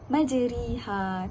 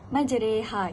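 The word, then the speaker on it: مجراها: majreha okey majreha ni kalau orang yang tak tak belajar dia akan menyebut sebagai majriha tapi salah kerana di sini merupakan contoh imalah iaitu cara bacaan yang betul ialah majreha kita perlu merengkan ro yang berbaris kasrah itu menjadi re jadi bacaan dia majreha wursah dapat tak boleh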